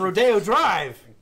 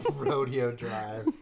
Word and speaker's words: Rodeo Drive: That doesn't even get her on Rodeo Drive. Allegedly. I think that's called Rodeo Drive. Rodeo Drive. We're not Canadian. Rodeo Drive. You put the accent mark above the wrong one. Rodeo.